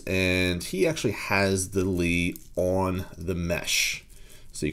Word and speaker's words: LEA: for this but uh this is indeed pronounced Lee even though it looks like Leah so what are we